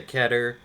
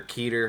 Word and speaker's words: Keter: from safe euclid to ketter or keter however you want to pronounce it uh safe is obviously